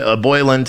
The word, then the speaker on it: Boyland: today showing roseanne boy boyland you wrote roseanne boyle but that's not her name uh if you're going to try to say her name say it properly roseanne boylan being trampled by dc